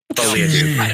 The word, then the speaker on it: folie à deux: Folie à deux. Shut up. I think it's folie à deux because that's Folie à French.